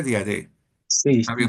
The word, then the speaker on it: Diadé: Bueno, pues nada, estamos con Diadé, se pronuncia Diadé.